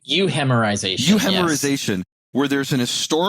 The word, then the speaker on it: euhemerization: And you call this a hemerization, or I might be mispronouncing that. It's euhemerization.